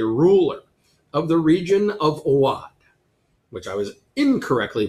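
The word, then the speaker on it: Awadh: which is a ruler of the region of Awad, which I was incorrectly pronouncing Oud earlier because I didn't know. And so it is pronounced Awad, and it is in the Gangetic Plain of northern India.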